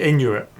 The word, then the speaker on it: Inuit: Even before Yeah, that, got the title wrong as well because we mentioned Inuit. Inuit. Yeah. It's actually Inuit.